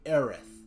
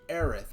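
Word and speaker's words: Aerith: is intended to be aith but be apparently the T sound is similar to the is sound and when you when you're translating from Japanese to English so her name was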